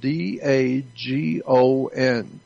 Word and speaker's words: Dagon: the pope he represents the worship of daegon it's spelled d-a-g-o-n dagon dagon is an ancient phoenician canaanite god